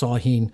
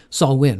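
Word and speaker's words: Samhain: that's on October 31st also sometimes called sawin or S Sam Hein but us usually pronounced saen sawin rather and then you have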